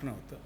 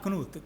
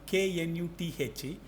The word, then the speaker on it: Knuth: Donald Knuth, K-N-U-T-H. He says don't pronounce it as Knuth, because K-N we have a tendency to, I think, Polish origin, but a Stanford professor.